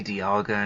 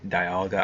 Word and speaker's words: Dialga: I used to say Dialga in a different way, but now that way sounds odd.